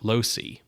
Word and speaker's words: Losey: Damned, directed by Joseph Losey. You know, seeing his name, I wasn't sure if it was Losey. So it's like you lose.